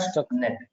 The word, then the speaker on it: Stuxnet: What is the pronunciation? Stuck. Stuxnet, STUX. This is the word, Stuxnet.